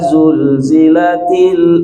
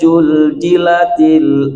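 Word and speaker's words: زُلْزِلَتِ: Idza zulzilatil ardu zilzalaha. Nah, ada yang bacanya idza juljilatil ardu jiljalaha. Jadi bukan huruf jim, itu huruf zai. Jadi bukan ke huruf J, tapi hurufnya Z begitu. Idza zulzilatil ardu zilzalaha, itu huruf zai.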